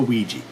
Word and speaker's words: Ouija: i'm watching Reggie norwegia however you like to pronounce it I go Weegee yes the 2014 film based off of you